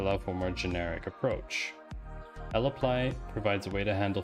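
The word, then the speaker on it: lapply: that we're passing to l apply l play i'm just going to call it lapley because it's l applies three syllables and laplace's just two so much easier on the right we've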